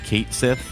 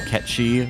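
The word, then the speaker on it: Cait Sith: of Final Fantasy VII, they're changing the pronunciation to Kate Sith, which is just, I understand that's how everyone always said it, but I kind of wish they would stick to the Ketchi, which is like, I mean, I learned it.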